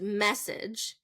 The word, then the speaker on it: message: if I say so first syllable stress is message if I say second syllable stress massage massage okay message massage so